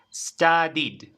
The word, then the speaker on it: studied: base study study study y la forma pasada studied stud it Okay y Esto va más rápido